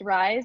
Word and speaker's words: Raiz: And then Raiz, it's pronounced Rise, like rise up, but it's spelled Raiz.